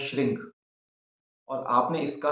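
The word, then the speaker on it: श्रीं: मां का जो बीज मंत्र है वो है श्रंग और आपने इसका उच्चारण करना है श्रंग नमः श्रंग नमः श्रंग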